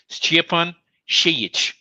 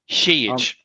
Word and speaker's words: Šejić: His full name is pronounced Stjepan Šejić. Stjepan Šejić. Šejić. The S has a hat.